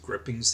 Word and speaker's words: gripings: You know, it's an old word, and I think we pronounce it grippings these days, but it's spelled gripings.